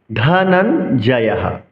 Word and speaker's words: ধনঞ্জয়ঃ: দেবদত্তম ধনঞ্জয়ঃ। ধ মহাপ্রাণ উচ্চারণ করতে হবে।